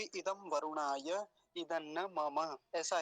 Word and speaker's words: वरुणाय: पिछले मंत्र में भी इदम वरुणाय इदन्न मम ऐसा ही था। इदम वरुणाय वरुणाय वरुणाय ऐसा नहीं करेंगे, रेफ पर ह्रस्व उकार है, छोटा ऊ है तो जल्दी ही बोला जाएगा।